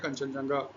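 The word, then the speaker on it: Kangchenjunga: ठीक है, फिर कंचनजंगा, लिखते हैं इंग्लिश में ऐसे, हिंदी में हम लोग प्रोनाउंस करते हैं कंचनजंगा।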